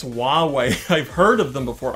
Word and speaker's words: Huawei: about the Huawei yes I have looked up how to say the name of the company it's Huawei I've heard of them